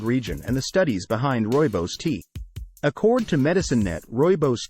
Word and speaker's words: Rooibos: Rooibos Tea, pronounced Rooibos, a true South African delight.